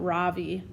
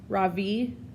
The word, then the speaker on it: Ravi: beam I say softly my voice quivering a little my name is not Ravi it's pronounced Ravi she looks at me